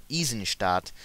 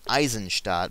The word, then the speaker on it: Eisenstadt: Nazis out of this town, which should be pronounced Eisenstadt, not Eisenstadt, but they do it anyway, because American company, screw proper German word pronunciation and such.